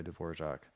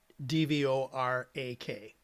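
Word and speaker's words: Dvořák: Because the R is Oh, I actually have pronounced more of like a zh.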